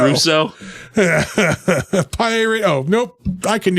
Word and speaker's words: Russo: Emperor Mai and the great Roso Japanese war you got that one wrong it's Russo Russo pirate oh nope I